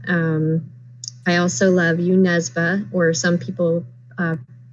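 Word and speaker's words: Jo Nesbø: um i also love you nesba or some people uh pronounce his name joe nesbo because that's what it looks like but in norwegian it's not pronounced that way um okay although interestingly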